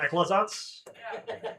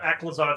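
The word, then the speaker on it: Aclazotz: The one thing in E that actually is spelled the way it's phonetically sounded and and well, it's and and it's because it's from a real thing.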